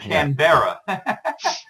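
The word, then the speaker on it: Canberra: canra canra CRA I canbera yes like Yogi bar you know Yogi bar yeah well I'm about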